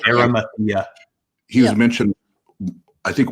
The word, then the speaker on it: Arimathea: Arimathea.